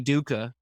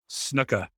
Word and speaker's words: Snuka: And he is picking up Jimmy Duca.